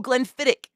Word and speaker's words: Glenfiddich: Oh, Glenfiddich. Thank you. I appreciate you. I literally, I think the liquor store employee pronounced it like that. And I was like, okay, gotta adopt that one.